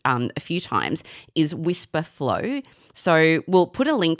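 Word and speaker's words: Wispr Flow: a few times is Whisper Flow. So we'll put a link to that in the show notes. It's spelled W I S P R and then flow.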